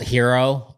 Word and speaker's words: Hiro: Yeah, the company is called Hero. H I R O but pronounced like hero.